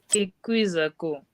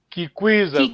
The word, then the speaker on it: Kikwizako: Kikwizako. Well done, a bit tricky, but in this case you use ki instead of ke. Kikwizako. Kikwizako. Kikwiza, because I mean it rhymes with ki.